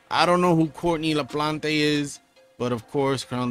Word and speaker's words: LaPlante: another life featuring courtney laplante right that's how you say it la plante she's she's spanish courtney